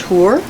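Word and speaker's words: Hoare: for her being adria that's spelled h-o-a-r-e it's pronounced hoor and it was right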